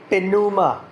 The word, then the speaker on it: pneuma: sa Greek kasi hindi sinilent ang so we pronounce Puma which means Spirit or air or wind dito